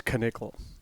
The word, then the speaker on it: Knickel: pronounced his name wrong it's uh not rick and nickel it's knickel okay he's a good guy